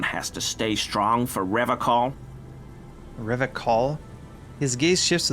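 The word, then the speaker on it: Revachol: But someone has to stay strong for Revacol. Revacol? His gaze shifts to the pile of soggy logs at his feet. He pronounces Revacol with a hard K, unlike other people.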